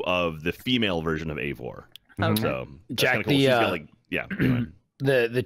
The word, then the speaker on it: Eivor: E-I-V-O-R, pronounced Eivor.